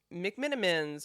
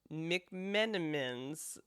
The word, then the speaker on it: McMenamins: So I feel like it's like McMinammens or McMinammens. McMen. It's MC capital M A M I N.